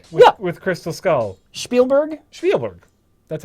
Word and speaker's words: Spielberg: I'm saying Spielberg with with Crystal Skull Spielberg Spielberg that's how you pronounce it Spiel Steven Spielberg Steven Spielberg Spielberg